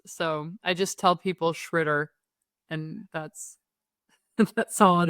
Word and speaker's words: Tschritter: In German they say uh and in the US people say shritter, but it's hard. It's really hard to pronounce. So I just tell people shritter and that's that's all it is.